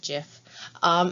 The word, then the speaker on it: GIF: see in this adorable gif um or as they now say you're supposed to pronounce it jif you have a sugar